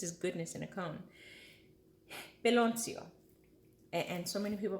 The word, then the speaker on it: piloncillo: Piloncillo. And so many people pronounce it so many different ways.